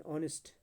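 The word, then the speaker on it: honest: N honourable person, an ऑनेस्ट, यहाँ पे H silent रहता है.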